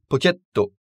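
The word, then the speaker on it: ポケット: vient de l'anglais pocket, se prononcera pocketto, avec deux T. On appuie, si vous voulez, sur le son T plus que sur le son TO lui-même. Pocketto, et non pocketto.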